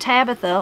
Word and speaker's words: Tabitha: She pronounced her name with the accent on the second syllable, unlike today's Tabithas.